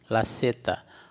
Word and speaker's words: zeta: Se escreve lazeta, mas se lê laceta. O Z em espanhol vai ter esse som de S, sim.